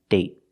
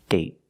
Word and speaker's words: date: Other example, day, day, and date, date. So with date, we see the vowel is shorter because you have a stop T at the end.